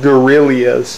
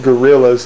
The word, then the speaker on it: Guerrillas: And it's called the 89 Guerrillas. They're not pronounced gorillas, they're pronounced guerrillas.